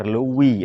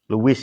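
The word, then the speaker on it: Louis: di mana Kaisar Lewi 16 Luis ya cara bacanya LI kaisar Luis 16 ini ya semena-mena meningkatkan pajak karena banyak utang dan lain-lain.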